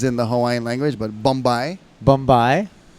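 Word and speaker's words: bumbai: It's not a Hawaiian word because there's no B's in the Hawaiian language, but Bombay. Bombay. Some people spell it B-U-M-B-Y-E like goodbye, but I believe it would be A-I. B-U-M-B-A-I. Bombay.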